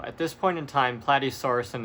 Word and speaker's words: Plateosaurus: Next is Plateosaurus, or as I called it Platedosaurus, like it was a waiter or something.